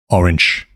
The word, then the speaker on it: orange: Orange. In Danish, it's spelled the same, but it's pronounced differently. Listen up here how it's pronounced in Danish.